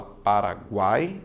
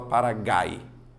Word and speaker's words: Paraguai: o som você fala Paraguai ou você fala para gay você vai perceber que você fala Paraguai ou seja a letra U ela é pronunciada se ela é pronunciada